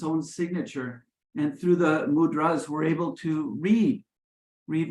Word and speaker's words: mudras: and we pronounce it mudras rather than mudras so the accent is on the last day the gestures of